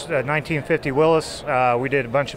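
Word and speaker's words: Willys: true Jeep afficionado cuz he said Willis the proper way I'm just throwing it out there no now why is it Willis because that's how the man pronounce his name really why is your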